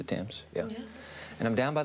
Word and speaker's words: Thames: down on the waterfront the Thames River yeah hey you pronounce it the temps yeah and I'm down